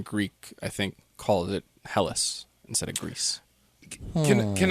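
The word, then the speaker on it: Hellas: they called themselves hen and they lived in helis h e l l a s even modern Greek I think calls it helis instead of Greece can can I can I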